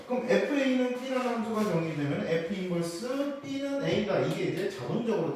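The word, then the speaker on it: f⁻¹: 거꾸로 돌리게 되면은이 함수를 f인버스라고 부릅니다. -1이 아니고요. f인버스라고 읽어요.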